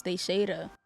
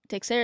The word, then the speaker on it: Teixeira: I mean, if you say in Creole, though, it's Teixeira. So it depends. Like, Texera is the English way, the American way to say it.